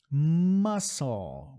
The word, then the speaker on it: muscle: Muscle, o C vai embora.